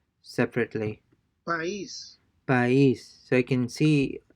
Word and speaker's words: país: Since these words have a written accent over the letter I, the diphthong is broken and the two vowels are pronounced separately. país, All right.